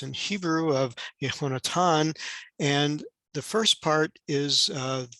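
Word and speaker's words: יהונתן: name of jonathan uh into the way it's pronounced in hebrew of yehonatan and the first part is the yud and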